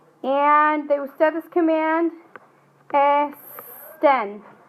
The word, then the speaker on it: este: Now let's look at the syllables on this. It ends in a vowel, so your stress should be on the second to last. Is it este, the verb, or este? Este.